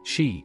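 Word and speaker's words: 嘻: 11, pronounced like shi, which connects the whole body.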